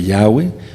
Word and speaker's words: Yahweh: En las Biblias en inglés dice Señor, In some Lord, of- pero si quieren pronunciar lo correcto sería: y crecía la palabra de Yahweh, y el número de los discípulos se multiplicaba grandemente en Jerusalén.